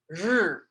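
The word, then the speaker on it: 日: In Chinese, this word is pronounced r, r. I don't know how to explain that other than to say r. You put your tongue as if you're gonna pronounce the word, the letter R, but you keep your tongue suspended, be you know, in the air in your mouth behind your teeth, and you don't move it.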